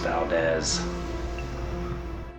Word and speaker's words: Valdez: stop I've made so far so thank you Valdez and just so you know it's pronounced Valdez here I am at the gas station slashing